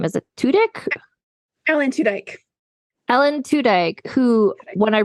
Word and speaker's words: Tudyk: Alan Tudyk.